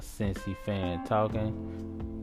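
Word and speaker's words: Cincy Fan Talkin': That's a Cincy fan talking. You say it like it sounds, just leave off the G.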